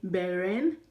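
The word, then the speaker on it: 本人: Okay, you can also say beren.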